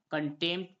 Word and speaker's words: contempt: टी आ रहा है तो यहाँ पर पी साइलेंट हो जाएगा। तो CONTEMPT को क्या पढ़ेंगे हम? कंटेम्प्ट पढ़ेंगे।